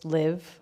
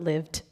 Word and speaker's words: Liv: My name is Liv, not LIVt. T is silent, just in case you read anything confused.